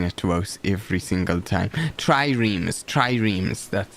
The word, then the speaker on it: triremes: Triremes. That's how you pronounce it.